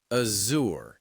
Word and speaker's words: Azure: It's the sound you find in words like vision or treasure. That's it. It's a soft buzzing sound. Azour. So you'd say, "Our company uses Microsoft Azour for cloud services."